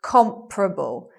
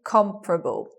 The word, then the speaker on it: comparable: words okay it becomes you anticipate comparable you anticipate four syllables but you get three comparable with a stress on the first so the stress being